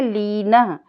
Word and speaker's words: लीन: पढ़ाना इसको जरूरी लगा तो लीन क्योंकि अह विसर्ग लगा हुआ है तो हम इसको पढ़ेंगे लीन लीन माने संलग्न या